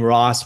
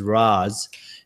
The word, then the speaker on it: Roz: I hear the name Ross when I know her name is Roz, and I just think, poor Roz.